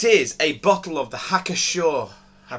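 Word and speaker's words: Hacker-Pschorr: a bottle of the hacker Shore I pronounce it hacker Shore October Fest beer thanks you pronounced that I assume p is silent hacker Shaw um October Fest beer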